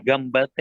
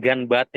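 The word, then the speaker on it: がんばって: Kalau misalkan gambate itu berarti bacanya gambate gitu ya? Iya, gambate. Benar. Gambate. Bukan ganate gitu ya.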